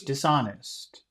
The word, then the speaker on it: dishonest: Pachu, uh, can you can you say the politician was dishonest? The the politician was dishonest. Okay. Which syllable in dishonest has all of the power? Honest. hmm And dis doesn't really have any power.